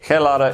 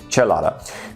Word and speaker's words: chelada: informed me that that I have been mispronouncing um chalada in the the previous episode so apologies uh Spanish speakers for me referring to it as a kada it is not a kada is a Chelada um which is also